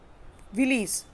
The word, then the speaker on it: villi: तो किसके थ्रू जा रहा है फूड, वो होता है विलीज, finger like projections, विलीज। Willys Willys Willys की स्पेलिंग मैं आपको बता देती हूँ, VILLI, विली।